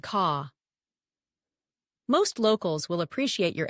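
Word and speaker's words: có: No and ko, yes, in your pocket, pronounced calm and ka.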